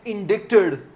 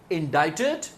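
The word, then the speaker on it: indict: पहले इसे पढ़ें कोर्ट इंडाइटेड ऑफिशियलल्स इन ग्राफ्ट स्कैंडल। आओ एक-एक करके वर्ड्स पढ़ें। पहला शब्द है इंडाइट जिसे आपने इंडिक नहीं कहना।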